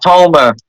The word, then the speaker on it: Houma: I I I It's Houma. Houma. Okay, there we go. I can't pronounce these French names for the life of me.